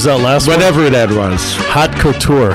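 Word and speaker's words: haute couture: last whatever that was hot Couture hot Couture is that the way you pronounce that yeah it's French we we we doctors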